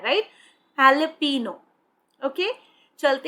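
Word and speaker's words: jalapeño: इसकी जो साउंड है, जो वर्ड है, आप देख सकते हैं जे से स्टार्ट हो रही है फ्रेंड्स, लेकिन इसको जब आप प्रोनाउंस करते हैं, जब आप बोलते हैं, तो ह साउंड आती है, हैलपिनो, हैलपिनो, राइट। सो ये हैलपिनो होती है, ये एक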